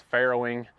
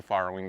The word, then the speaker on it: farrowing: farrowing barn so yes I know I'm saying it wrong it's Ferro but we call it the farro Barn here at casy farm so you don't have